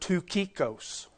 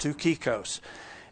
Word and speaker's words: Tychicus: You pronounce the word Tukikos. Now, if anybody can get a 2 out of that, but that is the way that his name is pronounced, Tukikos.